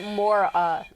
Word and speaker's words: Moira: She likes it pronounced Mora, though. Mora?